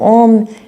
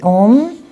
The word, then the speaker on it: Om: So Om isn't actually just O-M, it's actually A-U-M.